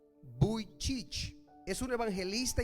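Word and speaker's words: Vujicic: Tuve que buscar cómo se pronunciaba su nombre porque iba a decir Buichicich, pero es Nick Buicich.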